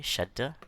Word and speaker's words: Shaddah: Okay, Shaddah. That means it actually is. It's not written as a double letter, but it's pronounced as a double letter.